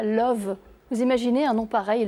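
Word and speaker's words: Lauw: qui est très beau c'est qu'elle habite à Love vous imaginez un nom pareil love c'est magnifique alors ça s'écrit pas comme en anglais ça s'écrit la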